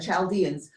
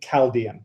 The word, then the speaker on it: Chaldean: Often in English, we pronounce that with a hard Chaldean. Chaldeans? Yeah. Oh. So well, it could be either, but usually I hear it with Chaldean.